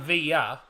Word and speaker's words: Villa: was another one yeah and Via is actually pronounced as v i y because if you have two L's next to each other in Spanish they pronounce the two L's next to each other as a y that it's it's so